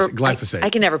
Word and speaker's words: glyphosate: Who the hell else is talking about EMF and that glycopate? glyphosate. I can never pronounce it, but they're spraying it all over